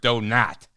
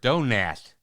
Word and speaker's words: Donat: He said, it's not Robert Donat. He corrected me and said, it's Robert Donat.